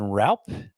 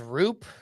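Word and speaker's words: Roupp: Landon Raup is how it looks with the Giants, but is it not? His baseball reference says Roop.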